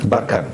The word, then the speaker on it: Barkhane: sur le même tu prononces Barkhane ou Barkane. Barkhane.